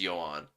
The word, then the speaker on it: Johan: office say the name Johan oh my gosh oh cuz the H is silent in Johan so it's yoan so it basically sounds